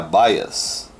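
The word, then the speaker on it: bias: terminal Há dias ou a pronúncia correta seria baias e aqui que nós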